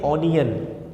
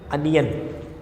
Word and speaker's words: onion: इसको प्रोनाउंस करते हैं ऑनियन, ऑनियन, लेकिन ये गलत प्रोनाउंसिएशन है. जी हाँ, ये भी गलत प्रोनाउंसिएशन है. इसकी सही प्रोनाउंसिएशन है अनियन, अनियन, ना कि ऑनियन.